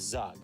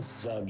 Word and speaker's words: Zug: Rug. So that rhymes with Zug, which we know.